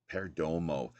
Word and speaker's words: Perdomo: lived so um Jose Perdomo is Perdomo is how you pronounces surname he's now passed away